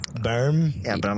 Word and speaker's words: Boehm: meet German people they're like you know you mispronounced that name I was asked should have a new modern NBL it's like berm berm and but I'm like come on you know